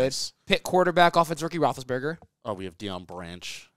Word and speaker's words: Roethlisberger: Roethlisberger. Pull the... Oh, there's an I? Yeah. Roethlis, like Liss.